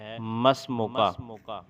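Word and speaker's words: ما اسمك: ما، جملہ آئے گا ما اسمو کا، درست تلفظ اس کا ہوتا ہے مسمو کا۔ التدریب الثالث، تیسری مشق،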